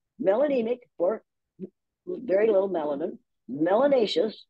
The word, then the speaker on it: melanous: for very little melanin melanous which rhymes with gracious and spacious and efficacious so it's a good one